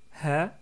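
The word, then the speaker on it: هَ: les différentes voyelles donc avec la fatha on prononce ha avec la damma on prononce hou avec la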